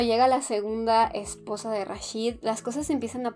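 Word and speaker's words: Rasheed: en gabul ya vi se pronuncia rashid el nombre del personaje pero las casan con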